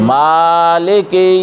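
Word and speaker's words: مالك: রাহিম আর রাহমানির রাহিম মালিকি ইয়াওমিদ্দিন আবার বলিউদ্দিন আবার বলি এই মাতে টান দেওয়াই লাগবে এই মাতে টান দেওয়াই লাগবে কারণ অধিপতি বিচার দিনের মালিক বুঝাবার জন্য মিমে টান মালিকি ইয়াওমিদ্দিন মালিক ইয়াকা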